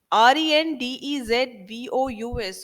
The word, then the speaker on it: rendezvous: equipment rendezvous means meeting place right so here r e n d e z v o u s all of you will keep a note of this word it is pronounced as rendezvous now mr dutta i will